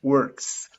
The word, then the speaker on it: works: in a school and i know it is difficult to pronounce works words works but you have to pronounce the final s works works with she